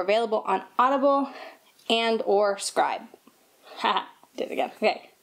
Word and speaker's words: Scribd: on Audible and or Scribd. Ha, did it again. Okay, Scribd. Hey guys, so first things first, an apology. I was saying scribe, and it's actually scribd, like ribbed, but scribd.